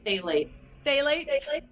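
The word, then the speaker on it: phthalates: they don't have the phylates i hate saying that word i always like to say yeah daily yeah that p is silent it took me a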